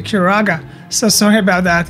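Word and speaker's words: Curaga: the the spells wrong i always say like kiraja but it's actually kuraga so sorry about that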